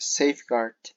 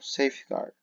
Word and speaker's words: safeguard: Yeah, okay, so this word here is pronounced safeguard. Casi no suena la U, safeguard.